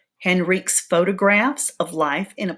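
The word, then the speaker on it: Henryk: And I think in the story I pronounced it Henrique. I was thinking it was a misspelling, but I think it's pronounced Henrik.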